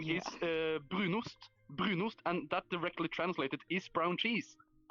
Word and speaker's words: brunost: It was like the brunust. Yeah, Oh, brunost. you pronounced it.